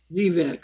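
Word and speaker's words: Xevec: I think that may be Zivek. Zivec? Yeah, it could be. How's it spelled? Xevvec. Well, it's Zebek, Zivec? but it's only spelled with one B as a rule. No, it's X-ray. X-ray Echo Victor Echo Charlie. Thank you. Zebek, okay.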